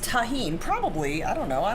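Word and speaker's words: Tajín: says isn't it pronounced tajin probably i don't know i don't eat it yeah the j does make an h sound in spanish so yes what would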